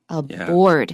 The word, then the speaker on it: aboard: That means 在船上 aboard. Yeah. That's an or vowel.